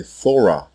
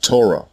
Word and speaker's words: Torah: why throughout this video you have heard me say Thor when referring to the book of Masha and not Torah as it is pronounced in the mastic dialect the Canaanites also pronounced